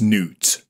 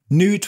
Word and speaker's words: Nut: But there is one suggestion that it is in fact a celestial manifestation of the sky goddess Nut, which I believe is pronounced Nut.